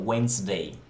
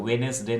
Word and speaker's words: Wednesday: वेंसडे, WEDNESDAY, वहाँ भी D silent होता है। वेनेसडे नहीं बोलेंगे, वेंसडे, एडजेक्टिव्स, राइट।